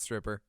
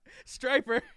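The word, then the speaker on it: Stryper: Y P er ha that's not stripper striper goddamn evil I know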